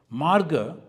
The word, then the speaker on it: marga: Marga, they say magga in Pali, they pronounce, but it is marga.